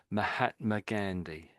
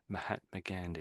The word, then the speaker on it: Mahatma Gandhi: In English, we say it as Mahatma Gandhi. Mahatma Gandhi in English.